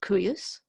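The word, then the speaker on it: cuius: begins with a C not a Q let's pronounce it qu u s-- KU u s-- curious and you can translate that as whose and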